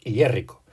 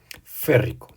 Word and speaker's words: férrico: como muchos elementos y no se dice yrico lo que se dice en su lugar es férrico vale que viene del